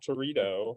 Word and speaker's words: Territo: Anywho, we are going to start the night tonight with Rob Territo, which rhymes with burrito, and introducing him will be Lindsay Davis.